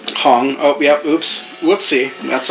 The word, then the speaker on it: Hong: We were saying it wrong the whole time. Hong.